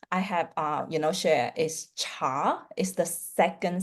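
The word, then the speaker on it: 茶: Okay, so for this occasion, this word in Mandarin is called cha. So the second sound, it goes, you need to go up with the pronunciation.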